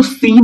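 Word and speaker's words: Seine: इसको सेन भी कुछ लोग पढ़ते हैं, सीन पढ़ते हैं, साइन पढ़ते हैं। ओके, तो आप को अगर आप स्पेलिंग्स को देख लीजिए तो सीन भी कह सकते हैं, इसको सेन कहते हैं और साइन भी कहते हैं।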